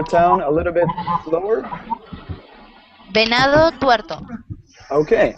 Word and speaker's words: Venado Tuerto: Can you pronounce the name of your town a little bit slower? Venado Tuerto.